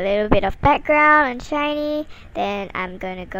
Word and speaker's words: SHINee: wikipedia shiny in korean it's pronounced as shiny which is pretty much the same it's a south korean